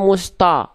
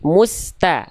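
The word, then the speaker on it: مستقيم: Jadi, jangan dibaca musto tapi mus. Nih ikutin kakak ya. Coba Dedek Eri ikuti kakak. Jangan musto tapi musta.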